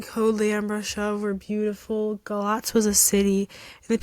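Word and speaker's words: Galați: Not Galati, that's how it's spelled. Galatz, Romania.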